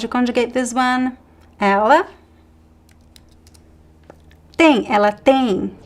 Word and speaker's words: tem: Ela tem. Pronunciation, pay attention. We don't pronounce the M sound, right? At the end of words in Portuguese, we pronounce as the N.